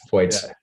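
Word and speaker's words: Feuz: I remember specifically watching World Cup last year and seeing Beat Fuez. Is that how you pronounce his name? I was wondering. Foyts.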